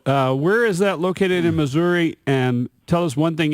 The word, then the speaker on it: Missouri: Where is that located in Missouri?